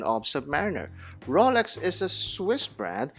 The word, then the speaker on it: Submariner: And finally, Cosmodoc says you cannot use a Rolex ad from Britain to show the correct pronunciation of Submariner.